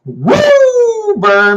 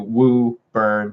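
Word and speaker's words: Woburn: so much Jeff uh hello from W bur Mass pronounce woo bur Mass not kidding D that great I'm I know where I'm moving we're moving to woo burn Mass uh only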